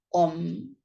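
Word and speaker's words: ॐ: El nombre del Señor es la sílaba sagrada Om.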